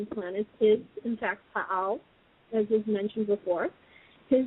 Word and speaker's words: Pa'al: The head of the Galactic Federation of Planets is, in fact, Pa'al, as was mentioned before. His name is spelled P-A''A''L.